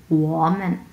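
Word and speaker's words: 我们: সো মেনে কোনো ধরনের টোন নেই, নিউট্রাল টোন, সো এই নিউট্রাল টোনটা ধরেই আমরা ছেড়ে দেবো। সো এটা পুরোটা আমরা উচ্চারণ করবো ওম্যান, ওম্যান মানে হচ্ছে আমরা,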